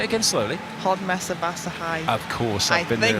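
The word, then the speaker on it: Hódmezővásárhely: Hodmesevassa High, I think how you say it in Hungary. Say that again. Hodmesevassa High.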